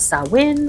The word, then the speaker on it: Samhain: the time where sawin was at its height sawin spelled s a m h a i n is a Gaelic word and it is pronounced sawin or sa and it's a pagan religious Festival